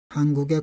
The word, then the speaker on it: 한국의: 조사의는 이것은 에로 소리가 납니다. 조사는 에로 소리가 나요. 예를 들면은 한국의 꽃.